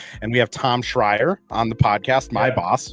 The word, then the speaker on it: Schreier: I've corrected people before, but yeah, Schreier.